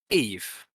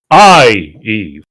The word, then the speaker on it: Ieve: It's There's a- IEVE. It's like literally the same, but it's more like a Roman emperor. Eve.